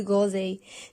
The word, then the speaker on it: groseille: On a toujours le son E qui s'écrit avec les lettres E, I, L, L, E. Et on ajoute S du pluriel.